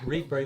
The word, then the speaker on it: Rietberg: Liberation of Rietberg. Rietberg, that's right. Which we pronounced wrong as Reitberg.